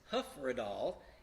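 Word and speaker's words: Hyfrydol: the hymn tune is hoofer at all and that's commonly mispronounced it looks like high fried all the hyf roi DOL but that's not how you say it obviously this is done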